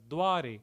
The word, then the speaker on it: duare: And then the 21st verse says, Ram duare, Ram referring to Lord Rama. Duare is in typical Hindi you would pronounce it as dware or dwar, the gate or the door.